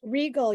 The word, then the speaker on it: Regal: Regal. You've got it. Yep. Okay. It just looks like it looks like it should be something way more exotic than it is, but it's really just regal.